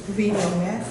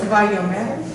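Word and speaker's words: וַיֹּאמֶר: Vayomer. Vayomer. Everyone. Vayomer. Say it. Vayomer. Now look at your yud here. Okay. So it's not vayi. It's vayo. Okay. The aleph is silent.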